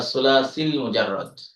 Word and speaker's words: الثلاثي المجرد: দুইটা মিলিয়ে বলতে হবে আসসুলাসিল মুজাররাদ।